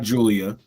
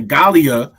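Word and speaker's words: Giulia: in stard I'm sorry I pronounced it wrong Gallia okay not Julia okay Galia all right uh number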